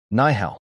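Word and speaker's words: 你好: Ni hao. Bradley mispronounced it. The room laughed softly. Lucia didn't mock. She corrected gently. Nihao. Push the breath.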